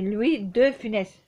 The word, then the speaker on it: Louis de Funès: Parce que je dis Louis de Funès. C'est Louis de Funès. Faut bien prononcer le 2.